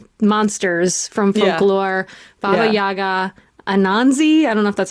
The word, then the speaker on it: Anansi: Baba Yaga, Anansi. I don't know if that's how you say it. Anansi, yeah.